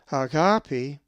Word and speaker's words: agape: If you said agape, you are correct, for the accent is over the second alpha.